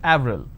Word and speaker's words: Avril: pronounced differently for example the name April it's it's a month right in French it's pronounced at Avril the name Clement is